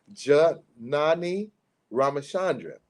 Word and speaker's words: Janani Ramachandran: Next, attorney Janani Ramachandran, Esquire, pronounced Janani Ramachandran. I have to say that because I had to get used to saying it correctly.